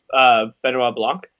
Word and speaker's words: Benoit Blanc: I want to say it's Blanche, but Detective Blanche or Blanche or something like that. I can't remember how it's pronounced, but yeah. yeah. But this was just a. Sorry, are we talking about Benoit Blanc? Benoit Blanc. Yeah, there you go.